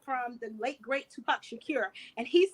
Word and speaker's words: Shakur: I need you to say his name right. I said Shakur. Who is Tupac? Who is Tupac Secure? Safe and secure from all alarm? Why is he there? Secure. That's not how you say his last name.